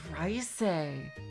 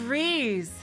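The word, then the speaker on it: Reise: It's Rice. Really? I always thought it was Reese.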